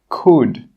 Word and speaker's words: could: The letter L is normally not pronounced when it's after the vowels A, O, and U. Some example words are walk, half, calf, yoke, could. In all of these words, we are not pronouncing that L sound. The L is silent.